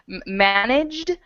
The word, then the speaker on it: managed: okay one more time managed is J say that J okay I want to